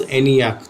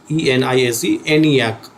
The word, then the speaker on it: ENIAC: It was named as ENIAC, ENIAC, called as ENIAC. The pronunciation is ENIAC, at the University of Pennsylvania, US.